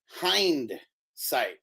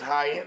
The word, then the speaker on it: hindsight: like the back end how are you saying it hindsight like h-i-n-d okay yeah so you are saying it right then wow I thought it was high-end like because it went